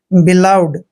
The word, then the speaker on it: beloved: दोस्तों बी का उच्चारण हमने बै करना है और ई को ई की मात्रा पढ़ते हैं। यहाँ पर LO का उच्चारण ले करेंगे, VE को वह पढ़ना है ऐसे, और डी को डे लिखते हैं।